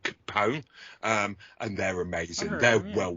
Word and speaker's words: Kepone: His real side band is a band called Capone, and they're amazing. They're well worth checking out. They're really good. Fantastic. Like spelled like Al Capone, Capone. No, like Capone. It's Kepone.